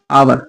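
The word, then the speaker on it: hour: लेकिन इसका प्रोनाउंसिएशन क्या है? आवर।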